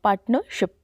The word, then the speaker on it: partnership: देखिए यहाँ पे ना पार्टनर नहीं बोलेंगे, पार्टनर बोलेंगे, पार्टनरशिप, आर साइलेंट होगा दोनों जगह।